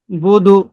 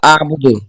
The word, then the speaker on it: أعبد: জি এখানে আপনি বলছেন বুদু, বুদু কোনো শব্দ নাই, একসাথে হবে লা বুদু আবুদু। যে আবার শব্দগুলো ভাঙা যাবে না, যেভাবে আবার লা বানান করে বলি।